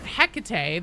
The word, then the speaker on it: Hecate: I couldn't help but notice that Hecate, they pronounce it the same way as the Greek goddess in the Vox itself.